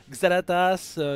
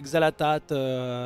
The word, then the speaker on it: Xal'Atath: était très bien tie on peut la prononcer je rappelle d'ailleurs xalatas xalatat xalatas ça marche c'est c'est c'est c'est